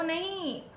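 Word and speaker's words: know: Going, नो, एन ओ नो नहीं, के एन ओ W, this is pronounced as नो। क्यों, के इसमें साइलेंट है एंड इसका मीनिंग नो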